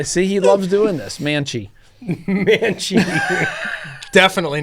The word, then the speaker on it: Mancl: Mancl. Definitely not it. Jake Mancl with HHA Sports is joining us in the studio today.